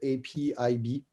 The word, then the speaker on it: APIB: That's how they pronounce it in Portuguese. It's APIB.